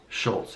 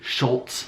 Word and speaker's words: Schulz: can really appreciate trolls Schultz if that's how I'm pronouncing his name I wanted to say Schulz like there's a tea but there's not actually a tea in it so this comedian one